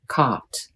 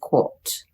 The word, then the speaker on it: caught: For caught, the American accent is caught, but the British say quote. If you learned British accent, you may say it the British way. In American accent, caught is caught. In British accent, it is quote.